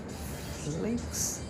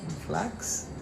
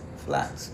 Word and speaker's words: flax: Flakes. Flax. Flax. Right. That's how you say it.